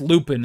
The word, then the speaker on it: Lupin: Lupon. Lupin. Lupon. Pronounced Lupin in this universe.